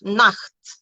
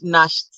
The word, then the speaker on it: Nacht: So C also sounds like K and H when preceded by vowels, like machen, machen, noch, Nacht, Achtung. I can't count how many times I've heard Nacht, and I'm almost like,